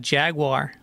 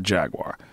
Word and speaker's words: Jaguar: What about Jaguar?